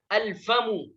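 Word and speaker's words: الفم: इसी तरीके से अल फमु, तो यहाँ पर फा अलिफ लाम के बाद आया है तो लिहाजा अलिफ और लाम दोनों को पढ़ा जाएगा, इसके अंदर कोई भी हर्फ साइलेंट नहीं होगा।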